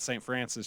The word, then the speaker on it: Saint Francois: Francis Mountains is spelled Saint Francois, but we say it St. Francis, just like we call